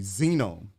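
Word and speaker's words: zenome: that's called uh what is it uh the xenome the xenome yeah have you I've I've briefly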